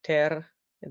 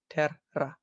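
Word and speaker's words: terra: You can see in the first syllable, it's ter, and then the second is ra. So they don't go together. It's not te-ra or ter-a. It's ter-ra.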